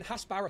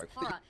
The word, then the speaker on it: Hasbara: Dude, Yes, your what manipulation of information, your fucking Hasbara here is fucking disgraceful, bro. Haspara. He didn't even say it right. He said it with a P instead of a B.